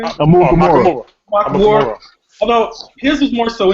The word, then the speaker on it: Amukamara: Amukamara.